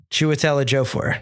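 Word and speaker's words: Chiwetel Ejiofor: mike how do you say this guy's name chuatela jofore there you go he's the he's he's the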